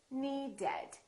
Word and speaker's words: needed: If the last letter of the verb is either a T or a D, we add the extra syllable. Once again, the last letter of the word is what matters. For example, need. The word need ends with a D. So we say needed. We add an extra syllable.